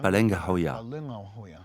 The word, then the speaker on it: Palengahoya: Le nom de l'aîné se prononce Pokanahoya et le plus jeune, Palengahoya.